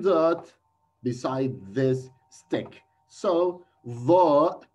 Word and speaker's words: ظ: Second letter is Va, Va letter. Va is a heavy sound of Vel. Vel, you should pronounce it. Keep your tongue out your teeth while you pronounce Vel.